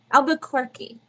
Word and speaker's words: Albuquerque: I had them all saying it wrong now, but they told me it was Albuquerque.